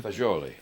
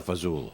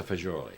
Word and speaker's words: fagioli: Fagioli. Thank you. Pasta fagioli from Cello's. You know, And- people would say pasta fazool. Yeah. But it's pasta fagioli.